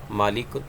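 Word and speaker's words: مَلِك: फरिश्ते को कहते हैं और मालिक और लाम की जेर के साथ जो है यह अगर इसको प्रोनाउंस करेंगे तो यह फिर मालिक यह बादशाह को कहते हैं जिसकी जमा मलूक है और मालक उन फरिश्ते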